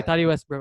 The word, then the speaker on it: Tati Westbrook: Okay, Tati Westbrook.